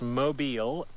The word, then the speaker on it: mobile: J in some place mobile pronounced that way long o long e a type of moving